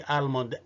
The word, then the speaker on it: almond: لكن في كلمة almond برغم ان ال L silent برضو محدش ينطق الكلمة دي almond ابدا. اوكي، برغم ان ال L silent لكن ما أثرتش على ال A.